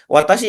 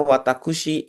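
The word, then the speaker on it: 私: Lalu watashi ya minasang artinya adalah saya. Ini sebenarnya cara baca lainnya ada untuk yang ini ya perempuan namanya watakushi itu juga bisa. Watakushi gitu ya ataupun juga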